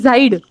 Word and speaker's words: seid: SEID is Zaid. Zaid. Yeah, Zaid, And SIND is Zind.